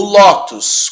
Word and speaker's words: lótus: agora Lotus Ata o lótus é o seguinte o lótus como a pronúncia lótus ela é uma paroxítona não é Lotus terminarem